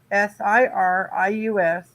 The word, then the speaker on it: Sirius: in the past the star's name was s-i-r-u-s pronounced seer us but i remember it as c-y-r-u-s but it's always been s-i-r-i-u-s or sirius that's why i said cyrus because